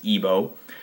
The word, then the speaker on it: Igbo: it's spelled IBO uh in most modern documents it's spelled Igbo but it's always pronounced ebo and this area right